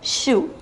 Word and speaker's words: chou: It is pronounced chou.